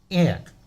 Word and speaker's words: heir: Here also, honest, H is silent.